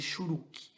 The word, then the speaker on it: Shurek: Então, a pronúncia tônica é na primeira vogal, tá?